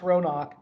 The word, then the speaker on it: Ronawk: roanoke what is roanoke so roanoke pronounced ronok is a combination of the names robin and hawk and when you take